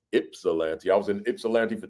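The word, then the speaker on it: Ypsilanti: I thought it was Yipsilante. It's spelled with a Y, but it's Ipsalante.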